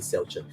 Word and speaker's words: Xiao Chen: Especially if Xiao Chen, thanks Jiu Zibin for the correction in the pronunciation, Xiao Chen.